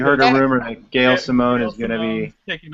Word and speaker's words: Simone: her own comic series, preferably written by Gail Simon. Yeah. One could hope, right? I think she's the one that could do Poison Ivy justice, for sure. Yeah, Gail Simone, yeah.